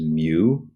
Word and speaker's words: mu: left and it's the Greek symbol mu it's pronounced mu E that's how you'd say it is mu and it just stands for the coefficient of